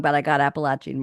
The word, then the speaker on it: Appalachian: see Dave told me I had to say Appalachian not Appalachian and I listen to you Dave I proun your name wrong but I got appalachin right 50% for me